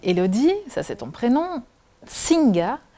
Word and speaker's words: Nsinga: Singa, mais ça s'écrit différemment. Donc en fait, ça s'écrit N-S-I-N-G-A et je crois qu'il y a déjà une histoire avec ton nom de famille.